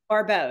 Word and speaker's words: Baribeau: Barbeau. It's okay. The I is silent.